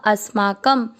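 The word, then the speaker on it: अस्माकम्: पहला चरण अ के साथ आधा स अस मा क शब्द पुरानी के बाद क पे अनुस्वार आधा म अस्माकम।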